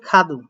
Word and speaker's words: 카드: তারপর এটা আছে খাদু, তো খাদুটা মনে করেন যে এটা একটু খিউকের উচ্চারণটা একটু জোরে করবে, এটাই আর কি।